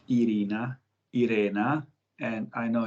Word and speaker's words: Iryna: underline that your name is irena and not irina because because we have similar names in russian language irina and in ukrainian language irena and and it